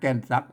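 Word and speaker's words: แก่นซัก: ม แกน ซัก ม แกน ซัก เห็น ม อ่า เห็น ม ต้อง อ่าน ว่า แก่น ซัก นะ ครับ แก่น ซัก อื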